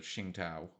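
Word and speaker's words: Tsingtao: the good company and the Xingtao, uh, as it is actually pronounced.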